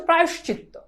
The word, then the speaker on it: প্রায়শ্চিত্ত: অনেকে পারবা না ভাইরে এটার উচ্চারণ আমরা বলি প্রায়শ্চিত্ত এটার উচ্চারণ হচ্ছে প্রায়শ্চিত্ত এটার উচ্চারণ কি বলো এটার উচ্চারণ হচ্ছে প্রায়শ্চিত্ত তাহলে এই অন্ততস্থ ওকার উচ্চারিত হয় প্রায়শ দেখো একটু ভালো করে খেয়াল করো প্রায়শ শেষ তাহলে প্রায়শ চিত্ত আবার বলছি উচ্চারণটা ভালো করে খেয়াল করো প্রায়শ তারপর কি চিত তারপর হচ্ছে তকার প্রায়শ চিত্ত এখানে ত এর সাথে একটা